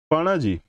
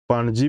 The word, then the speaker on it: Panaji: Panaji is the capital of Dash State. Correct answer abo Goa. Bibhinna prakar pronunciation hobe Panaji, Panaji. Mass number of an element is denoted by the symbol dash. Panji bhi kuha jay.